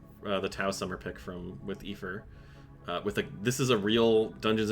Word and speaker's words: Aoife: It is pronounced Aoife.